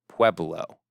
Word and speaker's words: Pueblo: He was a Native American Pueblo leader. Pueblo is the correct pronunciation of that tribe.